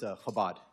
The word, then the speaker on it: Chabad: And by the way, it's Chabad. That's how you pronounce it.